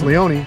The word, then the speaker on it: Leone: You do say a lot of people say Chris Leone. Yeah, that's wrong. It's Leone. He's an Italian guy. He is not silent. You got to pronounce that E, baby.